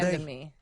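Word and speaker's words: de Randamie: I think it's Durandame? Durandame.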